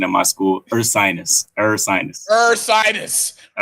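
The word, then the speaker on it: Ursinus: And like you said, uh I had to help you out with that pronunciation at my school. Sinus. Ersinus.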